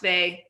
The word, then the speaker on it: Weil: no, it is pronounced Weil. It is a common German name.